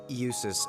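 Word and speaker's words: Jusis: Us Albera. Us. Okay. Jay is silent.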